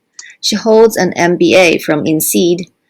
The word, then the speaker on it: INSEAD: My MBA is called INSEAD. It's a French school. Sorry. Yes, INSEAD.